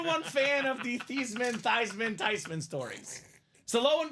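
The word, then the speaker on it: Theismann: Robbie and they said let's change your name from thian to thyman so they can campaign for thyman for the Heisman how awesome I turned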